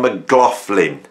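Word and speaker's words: McLaughlin: introduces himself and he he actually PR pronounces his name and we're going to go with this one now for all those people who criticize me for saying it the way I do he says John mlin John mlin I say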